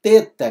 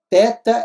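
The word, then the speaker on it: θῆτα: bom aí depois nós temos aqui o teta que é o nosso th th e não o tal que é um tezinho só um t comum né teta é TH o nosso I que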